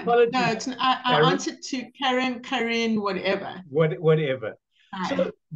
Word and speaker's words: Karen: It's pronounced Karen, Karen, actually, but I answered to Karen.